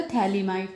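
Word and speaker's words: phthalimide: थैलीमाइड। पीए इसमें silent होता है। तो नेम इसका हो जाएगा थैलीमाइड।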